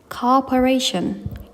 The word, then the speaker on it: cooperation: Cooperation 여기에는 우리가 지금 이중 모음이 있잖아요. 이중 모음은 자연스럽게 연결해 주시고 강세를 ration션 이렇게네 번째 음절에 강세를 두시면 되겠습니다.